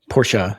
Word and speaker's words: Porsche: Porsche-ah is how you pronounce it.